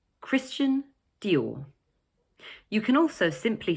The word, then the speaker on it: Dior: The second word is also made up of 2 syllables, but the stress is placed on the second one, Dior. So it's Christian Dior.